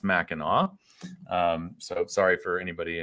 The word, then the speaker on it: Mackinac: policy uh it is it's spelled mackinac but it's pronounced mackinaw um so sorry for